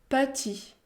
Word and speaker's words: petit: Autre exemple, petit, petit. La lettre E se situe devant une consonne, la consonne T. Dans ce cas, on peut prononcer le son E. Petit, petit.